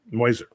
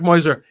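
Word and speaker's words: Meuser: passadena and Mark Muer moiser this is actually how his name is pronounced Mark moiser who ran for Senate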